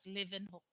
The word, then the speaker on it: Leeuwenhoek: spelled as liv or that is pronounced as living hook okay dutch maker of